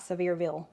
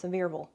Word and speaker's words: Sevierville: It's not Sevierville, it's Sevierville, right?